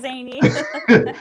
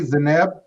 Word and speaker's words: Zany: I love you too, Zany. So she's here for it. And did I pronounce it correctly? Zeneb? It's Zany. She has a funky name.